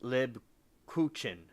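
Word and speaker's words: Lebkuchen: it up all right Leb coin all right we docked we docked we do we do I said it right it's lib Cochin it's a cool German bread it's a it's like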